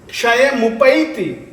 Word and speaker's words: क्षयमुपैति: पापम क्षणात् क्षयमुपैति, क्षयमुपैति ऐ की मात्रा है, ऐ की मात्रा का शुद्ध उच्चारण आना चाहिए।